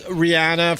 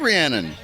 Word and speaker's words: Rhiannon: all Rihanna from Fleetwood Mac. I like Rhiannon.